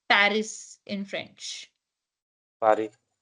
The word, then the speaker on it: Paris: Paris in French Pari Pari so a is a p a is p r i i is z r is re Pari and S is silent you don't say Paris you say Pari okay how will you